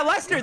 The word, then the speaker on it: Leicester: another one that's like Leicester, but they say Leicester. Yeah, Lester, that's where I'm from.